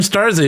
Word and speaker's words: Starzy: Also, is that Starzy? Is that the correct pronunciation? Yeah, it is.